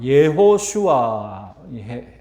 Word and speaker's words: 여호수아: 여호수아, 예호슈아, 히브리어로 그렇게 발음이 되는데요.